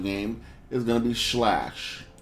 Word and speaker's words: Sclash: going to be slash I know it sounds like I'm pronouncing it funny but there's a c in there for some reason so I'm just going to say it how I think it sounds slash is a two 2D